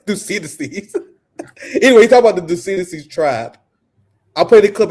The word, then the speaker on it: Thucydides: Thucydides? Yeah, that's close enough. Thucydides? Thucydides. You guys already knew there was no chance of me getting that right. Thucydides. Anyway, talk about the Thucydides trap.